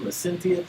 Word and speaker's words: licentious: That's pronounced licentious.